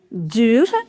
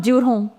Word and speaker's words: dure: You do not pronounce this ENT. So it is not durant, it's dure.